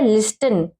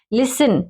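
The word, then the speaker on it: listen: लिसन, अब इसको कुछ बच्चे पढ़ते हैं लिस्टन, लिस्टन नहीं पढ़ेंगे, टी को हमने नहीं काउंट करना क्योंकि पीछे क्या है EN, मैंने कहा है ना EN और CH हो तो टी को साइलेंट करते हैं।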